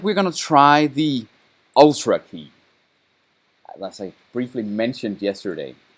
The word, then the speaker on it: Ultra Key: It has to be pronounced Ultra key. Like Ultra Kill in the old Unreal Tournament games.